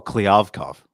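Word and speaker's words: Kliavkoff: Oh, Kliavkov.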